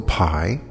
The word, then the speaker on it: Pye: going to be interviewing will PI and it's spelled P ye will is a wonderful